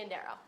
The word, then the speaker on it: Prisciandero: That's how you say it, Prisciandero? Yes, She's unbelievable. Prisciandero.